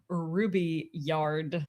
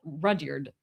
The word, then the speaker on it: Rudyard: People also make fun of you for pronouncing his name Rubyard. What is it? Well, Rudyard, or I think, like Rudyard Kipling.